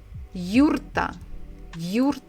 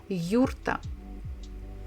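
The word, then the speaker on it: юрта: name of their houses it's called yurta in English we say yurt yurt but Russian almost the same yurta can if you followed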